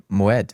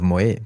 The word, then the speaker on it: Moët: So I didn't even know that it was called Moët instead of Moët.